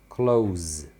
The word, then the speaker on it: clothes: Na prática, eles falam close, como se fosse o verbo fechar, tá? É a mesma pronúncia do verbo fechar.